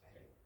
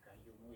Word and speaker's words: qayyum: diketahui yaitu amalnya ya kayumu ya qayyum padahal itu kan ya hayyu ya qayyum i orang pelafalannya yang yang medok jawo sehingga ya gayumu ya ya kedengarannya dia